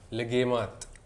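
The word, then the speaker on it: Luqaimat: famous legemat. Legimat. Legemat. Ganun po yung Yes.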